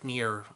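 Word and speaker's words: NieR: hunter stories neo neo Huayra pronounce it freaking near and automata I never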